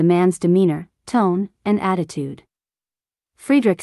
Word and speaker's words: Friedrich: it my name is Friedrich it's an Afrikaans name from the old German Frederick which means peaceful ruler it is pronounced Freddie rich and I'm from azania